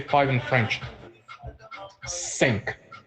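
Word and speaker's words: cinq: say five in French sink you guys got that right sink and it's spell c i n q s six how do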